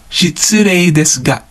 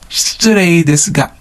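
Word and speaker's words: 失礼ですが: Or, shitsurei desu ga. So the ga syllable can also be pronounced as nga. So whether you pronounce it as ga or nga is just a personal preference.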